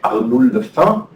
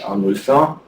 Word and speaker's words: Arnolfin: And if you pronounce it in French, Arnulfin, Arnulfin, well, that is extremely similar, one must really say.